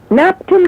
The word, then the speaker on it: Knapton: KNAPTON, the K is silent like the K in knife.